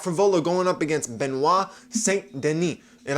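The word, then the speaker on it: Saint Denis: benois St Deni and I was saying that name wrong wrong the entire time I am so pissed that in every freaking podcast I said was St Dennis and it's St Den you find something new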